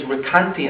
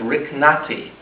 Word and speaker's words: Recanati: He's supposed to know things on this subject, and yet he mispronounces his name, and he says Recanati instead of Riknati.